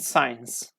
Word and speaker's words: science: Okay, if you say S and C combination at the beginning of the word, or at the like in the middle of the word, okay, keep in your mind it is pronounced like S.